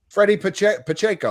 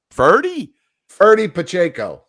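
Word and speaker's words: Ferdie Pacheco: Freddie Pacheco, wasn't it? Something like that. Of course, I butchered his name. Ferdy Pacheco.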